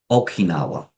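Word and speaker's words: 沖縄: of Japan, renaming it Okinawa. This is the Japanese pronunciation of Uchina.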